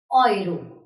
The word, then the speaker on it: Euro: So if these vowels are together in a word, this will be pronounced as Oi. Oi. Here is an example. Häuser. Häuser. Häuser. Yes. This is Oi.